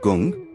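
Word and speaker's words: गं: akshara root syllable is gong pronounced to rhyme with the english word son he is the lord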